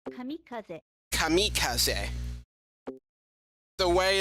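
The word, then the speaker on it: kamikaze: This is kamicazi as we say in English but in Japanese they say kamikaz.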